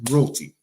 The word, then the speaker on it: roti: But the boneless chicken roti. Yes, my accent changed when I say roti because I have to say it properly.